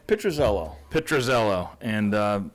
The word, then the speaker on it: Pitruzello: do you say your last name picture Zello petrozello and uh it's a beautiful shop it's been